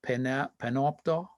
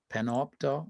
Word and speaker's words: Panopto: Actually, it's called Panopto. Panopto. I think they call it Panopto. Could you spell it?